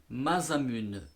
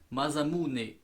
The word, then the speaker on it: Masamune: à oiseaux ce modèle madame une mais j'ai eu des conseils de prononciation qui se dit madame unsa mot japonais ça se dit masamune voilà pour fo donc